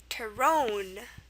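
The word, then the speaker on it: terrón: Terrone. It's pronounced terrone.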